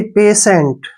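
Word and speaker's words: patient: आई ई आया है के बाद अगर आई ई आता है तो टी का प्रोनाउंस श करते हैं इसलिए हमने इसको पेशेंट पढ़ा है पेशेंट मींस क्या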